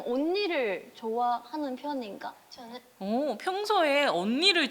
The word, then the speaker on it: 언니: 평소에 좀 언니를 좋아하는 편인가? 언니를 할 때 언니를 온니르이라고 발음하잖아요.